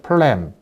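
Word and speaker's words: phlegm: 플램, P-H-L-E-G-M. 발음은 프렘입니다. G가 묵음이기 때문에. 그래서 림프 슬러지는 우리가 쉽게 알 수 있는 담 들었다 그런 담이기도 하고, 그 다음에 플렘, 찌꺼기라는 뜻이에요.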